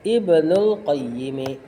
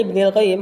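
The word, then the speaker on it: ابن القيم: Syikhul Islam yaitu badalnya Ibnul Qayyimi ya tetap dibacanya Ibnil Qayyim karena jadi badal dari tilmidzi cuma terjemahannya a kita baca Ibnuidzi Dan seperti kitab-kitabnya juga muridnya Syikhul Islam lagi alhafiz yaitu Alhafiz.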